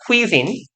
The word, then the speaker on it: cuisine: cuisine. 그래서 발음 기호상 이렇게 발음해요. 아 어디가 멍청아. 네, cuisine이에요. 여기에 악센트랑 장모음이 있어요. 아무튼 whole different cuisine 완전히 다른 새로운 요리를 즐기는 것 몇 가지가 진목적어였어요.